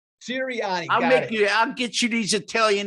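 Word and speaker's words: Sirianni: coach because i'm italian i gotta correct you nick please do sir nick ciriani siriani i'll get you these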